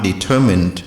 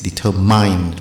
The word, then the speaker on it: determine: or determination determine i'm determined to do something my determination the common mistake is determined which is not the case we have to say determine strength strength with the